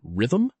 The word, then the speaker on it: rhythm: Both rh and rrh are pronounced as a hard r, like in rhythm and hemorrhoid.